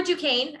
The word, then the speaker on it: Duquesne: counselor from duquesne university i know it's a weird french word but that is how we are pronounced i'm an assistant director for undergraduate admissions um for duquesne i'm so happy you're